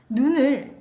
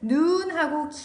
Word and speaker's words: 눈: 바로 소리의 길이를 말합니다 자 눈을 예로 들어 보겠습니다 눈을 짧게 발음하면 눈을 짧게 발음하면 그 뜻이 사람의 신체 기관인 눈을 뜻해요 그런데 눈을 눈하고 게 발음하면 우리 사전에서는 이런 표시로 길게 발음한다는 표시를 합니다 이런 표시를 자 눈을 눈하고 길게 발음하면 하늘에서 내리는 눈을 의미해요 자 다시 한번 눈을